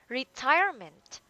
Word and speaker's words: retirement: Last one, retirement. Uh, Retirement. Retirement. A second syllable.